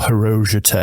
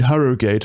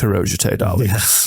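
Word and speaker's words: Harrogate: and nasbro um or hero as it's correctly pronounce yeah people go oh do you mean hogate I'm like no it's hero but yeah har is you're not saying gate prop it's part of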